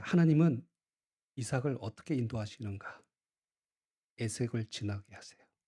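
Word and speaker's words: עשק: 그 우물을 이름을 에색, 히브리어 정확한 발음은 아사크, 다투다, 강탈하다 이런 뜻을 가지고 있습니다.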